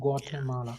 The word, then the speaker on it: Guatemala: How to pronounce? Guatemala. Can you Guatemala? Yeah. Guatemala.